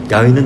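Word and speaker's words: 야훼: 야는 나를 살펴 보셨기에 야외는 누구냐 여호와를 말합니다 여호와를 그냥 그냥 있는 그 히브리어 말대로 읽으면 야외라고 읽을 수 있어요 야외 야가 중국을 거쳐서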